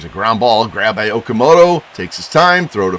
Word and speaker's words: Okamoto: But Akamoto Okamoto, I'm sorry. I learned how to say his name right.